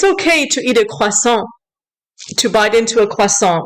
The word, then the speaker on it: croissant: Tiffany Maurice Christie, croissant is pronounced croissant, and pain au chocolat